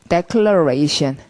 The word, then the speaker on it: declaration: 자, 소리가 declaration. 동사일 땐 declare 이러지만, 명사가 되면 길어져서 강세를 두 번 찍기 때문에 declaration 이렇게 소리가 나고요.